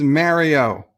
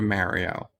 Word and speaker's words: Mario: Alex says, well, in Italy, it's kind of halfway between those two pronunciations. It's closer to Mario.